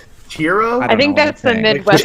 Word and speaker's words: churro: churro what um you it's churro it's not a chroo churro I think that's the